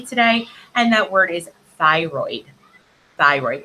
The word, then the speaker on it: thyroid: your whole systems so thyroid so th y r o i n d thyroid okay so t h go together y is obviously sounding like a long i r o i